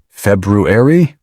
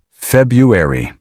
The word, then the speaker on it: February: Did you say February? That's one of the most common mistakes. In everyday American English, most people say something much closer to February. Notice, the first R is usually silent.